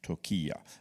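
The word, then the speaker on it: Türkiye: mean the the food I mean the place took as it's now pronounced said and I'll get ads from Turkish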